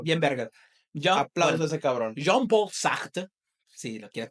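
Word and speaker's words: Jean-Paul Sartre: John Paul Sacht, si lo quieres pronunciar bien mamador en francés, mi libertad termina dónde empieza la de los demás.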